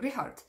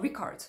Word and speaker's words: Richard: sound as k and it's not a k sound so for example um one of the guitarists is called rihard it's not richard and there's lots of ranch time songs where that sound appears but the easiest example is probably ichvil i want it's not ikvil and it's okay if